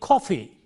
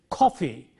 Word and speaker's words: coffee: Similarly, coffee. When you say coffee, the K is aspirated, K. It is not coffee, but coffee, K.